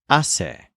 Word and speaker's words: hace: or it does, is hace. It's like the infinitive hacer, but with the R removed from the end and with the stress on the first syllable instead of the second syllable.